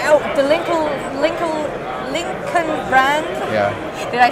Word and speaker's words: Lincoln: Do they say, oh, the Lincoln brand? Yeah. Did I say it right? That's right. Lincoln brand in China.